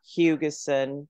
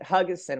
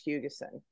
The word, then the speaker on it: Buckley-Hugessen: am Buckley-Hugessen, and I say Hugessen because a lot of people don't know how to pronounce it Huggison, which would be lovely, but it's Hugessen.